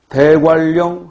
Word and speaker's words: 대관령: 대관령 할 때는 리을 유음화가 일어나지만 공권력 할 때는 니은 비음화가 일어난다.